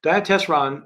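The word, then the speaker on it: Diatessaron: the gospels is called the dietes wrong um diet testron uh if you spell it out Dia uh means through in Greek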